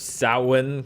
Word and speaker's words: Samhain: We will use the powers of Samhain. I got corrected on the pronunciation of Oh, that.